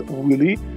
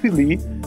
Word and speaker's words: Viuly: Некоторые говорят «Willy», некоторые говорят «Philly», некоторые говорят «Вьюли». В русском варианте он чаще звучит как «Вьюли».